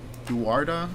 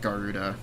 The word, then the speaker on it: Guarda: Guarda. I think I'm pronouncing that right. Again, I'm not going to lie. I always pronounce it Garuda because of Garuda Town. And I know that's not how you're supposed to say it, but I don't give